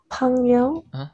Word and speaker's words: 朋友: 朋友. 朋友. 朋友. Okay, this is the so-called correct pronunciation.